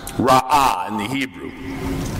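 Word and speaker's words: רעה: Now, the Hebrew word translated as wickedness in verse 5 and pronounced ra'ah in the Hebrew, it's pretty straightforward.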